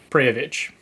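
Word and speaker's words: Prijović: Prijovic.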